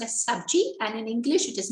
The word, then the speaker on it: sabji: g in hindi is it's known as it's pronounced as subji and in english it is known as vegetables